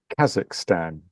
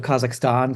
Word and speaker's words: Kazakhstan: give it a go stick an r in it stand like stand like on the shirt or with an Ahn so the flag of